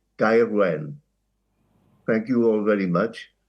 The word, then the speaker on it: Gaerwen: As a South Walian, I would call it Gaerwen.